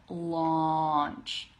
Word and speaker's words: launch: launch ah okay that all I believe is the same one as in like autumn or father okay I don't remember what this symbol is called in the phonetic alphabet but launch launch it's like a deeper ah sound okay I'm trying to